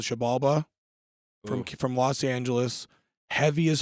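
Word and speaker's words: Xibalba: Shabalba. Shabalba. A lot of people say Zabalba. It is Zabalba, pronounced yeah. Shabalba.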